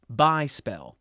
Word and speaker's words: bespell: Parable, as we know it, entered English during the 13th century, displacing the native English word bespell, which would be pronounced by-spell in modern English.